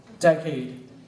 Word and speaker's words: decade: Sentence: all the primary spelling bee contestants are in their first decade of life. Your word is decade. This word does have two acceptable pronunciations.